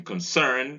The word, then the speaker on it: concern: And then you have it in concern, stress falls on its second syllable of concern, the first syllable is on stress, therefore the schwa occurs there.